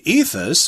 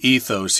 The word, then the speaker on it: ethos: can't change it and the word ethos or ethos or ethos I'm going to say ethos here I like that pronunciation better it's just kind of